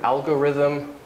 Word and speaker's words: algorithm: it's not from greek one exception is the word algorithm oops well also rhythm in the case of rhythm the m is voiced and so the th becomes voiced and it happens here too this is from greek but this is from uh this is an exception because the m is making that voiced and this do you